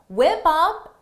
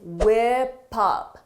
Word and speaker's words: whip up: Whip up is a phrasal verb. For the pronunciation, notice: whip up. Whip up. Whip up. Because of linking, whip up.